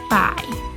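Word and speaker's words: 百: ภาษา จีน อ่าน ว่า ฝ่าย ฝ่าย กลัว ไอ ปาย เด็ด ออก เสียง ต้าน มา ใส่ อีก รอบ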